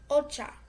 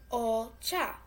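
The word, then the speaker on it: お茶: Ocha. Get it? Ocha.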